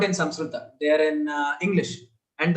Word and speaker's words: Samskrita: We say Sanskrit. Even I used to do it. I studied Samskrita for 7 years and I used to still pronounce it as Sanskrit. And just for pronouncing it as Sanskrit, my Sanskrit teacher cut my mark, saying this is not the way.